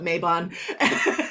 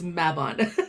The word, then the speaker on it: Mabon: And I hate to call you on it, but don't call it Mabon. Oh yeah, don't call it Mabon, as they learn. It's Mabon. Mabon. And pronouncing it correctly.